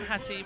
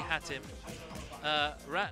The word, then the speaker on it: Hatim: For some reason, there's a tendency for people to extend the end of the name and not the beginning. Yeah. It's, like, I'm Hatim when it should be Hatim.